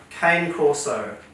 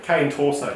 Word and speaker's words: Cane Corso: No, cane torso, thanks. It says Corso with a C. Look, Cane Corso. How would you like to pronounce it? Corso or Torso? I think Torso is wrong, but sure, I can pronounce it as such.